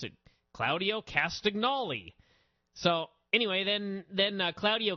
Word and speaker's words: Castagnoli: started ranting and raving about clao who he pronounced castagnoli which I thought was how it was pronounced